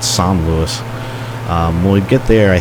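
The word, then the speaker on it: Saint-Louis: And when we get to I think it's pronounced San Luis. You know, the American in me wants to call it St. Louis, but I think they call it San Luis.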